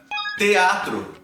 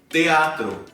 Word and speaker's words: teatro: Se você tem essa sílaba com E ou com I, TE, TI, no início da palavra, você pode supor que essa pronúncia ela vai se manter, né? Você vai dizer, por exemplo, teatro, teatro.